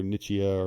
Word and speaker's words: Nichia: is then it is uh initia 219b or nichia or who you know everybody pronounces it different um as far as the